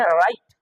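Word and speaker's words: write: का सेलेंट में है राइट जबकि लिखाता है डब्लू आर आई टी और पढ़ा जा ता है राइट आर आई टी तो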